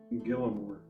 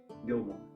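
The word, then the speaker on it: Gillamoor: which place oh Gilmore the hardest one to pronounce and say g i l l a m o o r Gilmore Gilmore um so root socks is how far away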